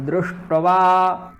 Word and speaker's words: दृष्ट्वा: द्रि शा है आधा, फिर टा है आधा, और फिर है वाह, इस प्रकार से है। तो इन सब का उच्चारण करना है, इन दोनों का आधा आधा और इसका पूर्ण और इसका दुगना, ठीक है।